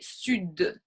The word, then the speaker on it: sud: Une exception, ce serait sud, in the south, since we already accentuate a little bit more with our accent from the south, then we would say sud, and it pronounce more that D.